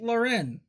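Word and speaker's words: Lahren: Is that how you pronounce her name? Laren? Tommy Laren. It is.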